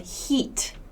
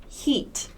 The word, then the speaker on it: heat: The second E sound, this is the long E sound, heat, heat, heat.